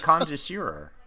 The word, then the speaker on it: Concierge: And what is Implant Concierge?